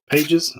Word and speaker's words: Pages: I always pronounce it wrong. Pages.